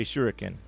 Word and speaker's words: shuriken: I take the bowl and turn it into a shuriken. Now I have a shuriken the rest of the game till I throw it. All right, let's see if you successfully craft a shuriken.